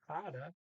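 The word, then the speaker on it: hadde: so harder means had h-a-d-d-e by the way hada is because second of two types um okay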